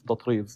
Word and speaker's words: Tatreez: One example is tatriz.